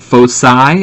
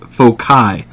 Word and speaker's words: foci: We call it foci. It's also pronounced foci. I always pronounce foci. That's just my preference, but both are correct.